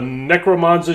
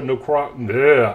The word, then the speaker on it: Necrozma: We have the Ultra Necromanza GX. So what they like to do is they like to show you some deck strategies. And this one is Ultra Necrozma.